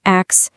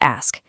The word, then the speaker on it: ask: It's not axe, it's ask. Hear that crisp S sliding right into the K.